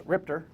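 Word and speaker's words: RIPTA: Speaking of costs of getting around, back to the fairs, RIPTR. That's how you say it in Rhode Island.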